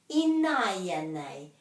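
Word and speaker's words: ināianei: Inaya nei.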